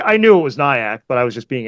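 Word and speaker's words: Nyack: in New York state yeah so yeah it's pronounced nyak that's what I thought it was I thought it was nyak for those um for those who actually you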